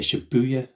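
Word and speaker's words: Shibuya: that's how it's pronounced the shabuya sky s h i bu u y a in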